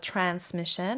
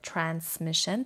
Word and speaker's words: transmission: بچه ها transmission هم به صورت transmission تلفظ میشه هم transmission، چه بگم ز چه بگم س، جفتش هم درسته.